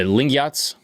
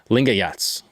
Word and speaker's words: Lingayats: His followers, the Lingats, I hope I'm pronouncing that correctly. Correct me if I'm wrong. Lingayats. The Lingayats. I like Lingayats built a